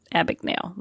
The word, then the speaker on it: Abagnale: And Frank, I can never pronounce his name right. Abagnale? Abagnale.